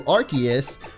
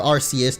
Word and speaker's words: Arceus: I think this Pokemon, as you guys might have figured out by now, works similarly to Arceus, or Arceus, depending on how you like to pronounce it.